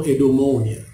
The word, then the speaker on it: eudaimonia: Jadi teks-teks Yunani filsafat berbicara tentang kebahagiaan atau eudaimonia. Ini tulisannya itu ini. Bacanya sama Yunani, eudaimonia.